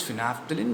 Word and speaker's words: phenolphthalein: It is a twisty spelling, PHENOLPHTHALEIN, but the pronunciation is phenolphthalein.